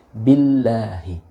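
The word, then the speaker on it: billāhi: baca Mart Ratih tipis Billahi Billahi Billahi nah bila Hidup bukan biolohi nah ini banyak bukan bukan hanya anda tapi banyak ya ketika kita Ah saya maksudnya menerima setoran itu bacanya ditafsirkan binering the world Nah itu salah tidak seperti itu akan tetapi tergantung pada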